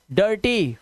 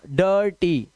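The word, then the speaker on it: dirty: शर्ट, chirp, डर्टी, firm, और इन सब में आई का जो उच्चारण है वो देख रहे हो आप, ना तो ई है ना आई है, ये आवाज है अ की।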